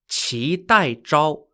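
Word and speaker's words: qidaizhao: tang dynasty onwards the emperor employed people called chi tai chao spelled q-i d-a-i-z-h-a-o although you'd probably never be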